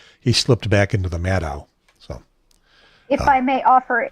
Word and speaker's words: Maddow: And by the way, you did a good job in pronouncing her name, Maddow. Almost everybody in media everywhere will pronounce it Maddow, like mad cow, but it's not.